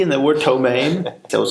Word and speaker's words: ptomaine: with the chili tank ptomaine is spelled P T oh ma I and eat because silly no no wait what are you telling me Greg there's a P and there were ptomaine that was like 24